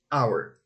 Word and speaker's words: hour: in this case our letter h is voiceless so we say an hour the same happens with